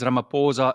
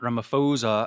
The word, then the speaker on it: Ramaphosa: He actually pronounced that correctly. It is Ramaphosa, not Ramaphosa, as some of the news channels are saying.